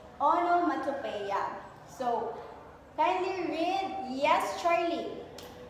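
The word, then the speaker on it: onomatopoeia: So this one class it is pronounced as onomatopea.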